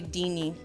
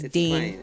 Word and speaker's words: Deine: It just feels nice when I say Deanie. Yeah, it's Dane.